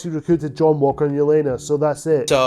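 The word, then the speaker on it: Yelena: And of course, he recruited John Walker and Yolena. So that's it. So we see Yolanda once again played by Fors Florence Pug. It's Yolena, not Yolanda.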